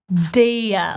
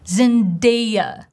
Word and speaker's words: Zendaya: But in English, if we look in the transcription, we clearly see schwa sound zen, zen. Zendaya, like what a good day, Zendaya, Zendaya, Zendaya, not Zendaya, Zendaya, good day, Zendaya, have a good day, Zendaya, eh.